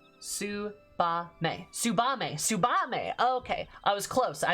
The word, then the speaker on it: Tsubame: tongue one might call a shinobi right tsubame tsubame okay i was close i had two syllables right doma the imperial province the same